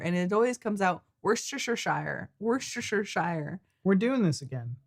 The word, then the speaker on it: Worcestershire: Okay, so I know it's not Shire, it's Shire when you're talking about like Yorkshire.